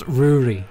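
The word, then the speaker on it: Ruaridh: It's Ruri. It's pronounced Ruri. How is that Ruri? It's a Scottish God word. Damn it. Let it play, would you? No way! No! I refuse! Really? It's a Scottish name.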